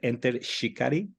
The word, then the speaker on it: Enter Shikari: Is that the right way to pronounce it? Enter Shikari?